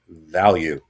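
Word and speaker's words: Valyou: That's That's how you pronounce her name. It's V A L Y O U. Value.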